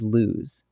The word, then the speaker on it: lose: It rhymes with news.